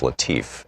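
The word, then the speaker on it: Latiff: Our book today is Future War, Preparing for the New Global Battlefield by Robert, I believe it's pronounced Latif, L-A-T-I-F-F. This is from the introduction.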